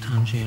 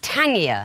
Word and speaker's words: Tangier: These are words that change their pronunciation and meaning depending on whether or not they have a capital letter. Right. Yeah. Without a capital T, it's tangier. Natal becomes natal, Polish becomes Polish, August becomes August.